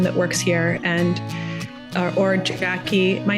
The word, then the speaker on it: Jacquie: email for everyone that works here and or Jackie my name is spelled weird it's j a c q IE